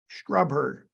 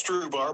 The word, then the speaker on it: Strubhar: Brian, you're listed on the OWL app as Brian Strubher. Am I pronouncing that correctly? Yep, we say it's Strubhar, but same difference. Strubhar, Strubhar, Brian.